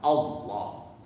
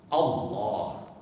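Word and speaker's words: الله: nah lafaznya tafhim ya lafaznya harus tafhim tebal Allah Ah jangan mengucapkan Allah salah itu itu itu salah itu Allahumma Ya Allah Allah Allah Allah Nah jadi harus tafhim tebal jangan tarkik ya itu pengucapannya itu gu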